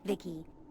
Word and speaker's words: Vici: he's looking for you i'm vici pronounced vicky came out here to